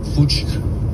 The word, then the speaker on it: Puig: Vous le prononcez bien à la française, pas à la catalane? Puig.